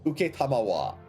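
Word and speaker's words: 承: And then this kanji is pronounced uketamawa. Literally Uketamawa. a five hiragana pronunciation for just that kanji.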